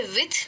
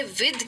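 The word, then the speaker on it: with: Actually इसे विथ नहीं कहते, इसे विद कहते हैं। इसका जो ध होता है वो काफी सॉफ्ट होता है, देन जैसा द नहीं होता है, लेकिन होता ध है, इसलिए कहते हैं विद।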